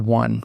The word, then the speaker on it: won: said but I still won pronouncing the last word like one this is the right way to pronounce it sadly many English Learners pronounce it like own stop it get some